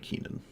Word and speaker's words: Kinnan: I think it's pronounced Kinnan, but I like Keenan.